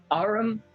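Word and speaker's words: Aurum: Arum Somnum. And it is spelled A-U-R-U-M.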